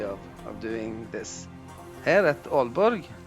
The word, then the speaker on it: Aalborg: Here at Aalborg, 2 A's being pronounced as Å in Scandinavian languages.